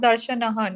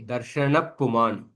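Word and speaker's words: दर्शनः: Not Darshanah, no? Darshan only. Darshana Puman. Darshana Puma. Ardha Visarga. Okay. Visarga followed by Pakara or Phakara. You don't pronounce that Visarga fully.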